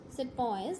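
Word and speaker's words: sepoy: I want to clear the meaning of that said boys this is how the British pronounce the word Sipahi meaning an Indian soldier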